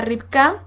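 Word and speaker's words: רבקה: su idioma original esto es en hebreo se pronuncia rica y bueno éste se los voy a copiar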